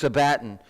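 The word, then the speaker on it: σάββατον: is Sabaton Sabaton sabotage I really don't know how to pronounce it but it sabatin actually I do too it's Sabaton right and it actually means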